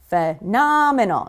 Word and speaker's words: phenomenal: Phenomenal. It's the second syllable, right?